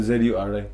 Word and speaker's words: Zuri: Z-U-R-I? Yeah, Z-U-R-I. ZURI? Yeah. That's cute. It was ZHURI. Zuri. Zuri. Like, Huri Batas types. Huri. Zuri. Zuri. What does it mean?